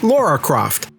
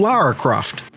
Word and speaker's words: Lara Croft: Now, some people have an issue when her name is pronounced Laura Croft, but to those people, you got to understand that Lara is not a common name in the United States.